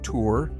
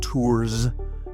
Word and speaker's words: Tours: I pronounced his name like a Texan, hard on that S. Gregory of Tours. So, forgive me. The French way. And apparently the correct way is Gregory of T.